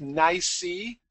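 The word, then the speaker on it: NYSE: what the acronym stands for you've heard of nicey that's the way it's usually pronounced and it stands for the new york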